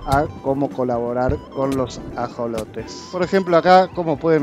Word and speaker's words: ajolote: la real academia española la palabra se escribe con jota y obviamente se pronuncia también con jota ajolote sin embargo esta discusión